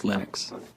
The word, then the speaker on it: Linux: people pronounce my name but linux is always linux he developed a kernel